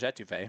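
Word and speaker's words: étouffée: Will pronounced it a toffee yesterday, and I almost went insane.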